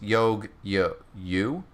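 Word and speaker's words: Yagyū: Managi said Yagui is pronounced Yogyu? That's weird.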